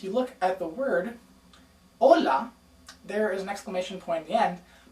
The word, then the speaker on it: hola: Notice that the H in Spanish is silent. Also notice that if you look at the word hola, there is an exclamation point at the end, but also upside down.